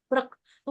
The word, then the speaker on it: प्रकृति: कृष्ण, हिंदी में चलेगा प्रकृति। कृष्ण, है ना। संस्कृत में क्रू होता है, क्रू। प्रकृ श्रीमती क्रू। प्रकृति प्रकृति। प्रकृति ऊपर जो बिंदी है वो अनुस्वार बोलते हैं उसको, उसका उच्चारण होगा प्रकृति।